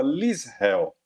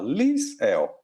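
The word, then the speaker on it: LISREL: um holandês que chamava Lisell. Você escreve como se fala? Lisell. Eh, L I S R E L. Lisell.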